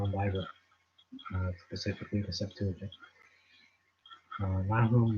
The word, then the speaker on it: Nahum: So Nahum 1, or Nahum, however you pronounce that. I say Nahum now. I used to say Nahum, but that's the American way. I'm going to say it the Hebrew way.